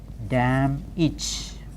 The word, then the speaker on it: damaged: GE again the mix never say damaged damaged we are used to the wrong pronunciation often we say managed code page see damaged carriage like that no this managed then da ma GE damaged damn each then we have Co